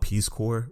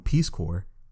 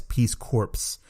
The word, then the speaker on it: Peace Corps: bit of research on Peace Corps and for those of you who don't know what Peace Corps is and maybe some of them pretty maybe some of you pronounce it as Peace corpse it is basically an